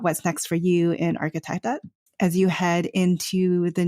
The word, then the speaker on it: Architectette: We're on all social media at architect and that is kind of a strange word that a lot of people have a hard time pronouncing, I realize, but it is architect.